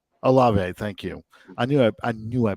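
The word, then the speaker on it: Olave: Aleve is how you say his name. Alave, thank you.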